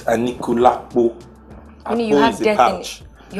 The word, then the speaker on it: Anikulapo: Now, I only just found out what ANIKULAPO means because you guys pronounce it funny and then no, it actually means ANIKULAPO. It's ANIKULAPO.